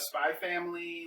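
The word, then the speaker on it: Spy × Family: I learned from Hunter x Hunter you don't pronounce the X.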